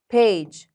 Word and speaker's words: page: G after an E. شو رح يكون? Soft G. Page. And the E is silent.